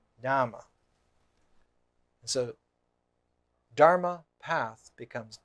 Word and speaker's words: Dhamma: Dhamma is the southern pronunciation, the Pali pronunciation of Dharma. Dhamma.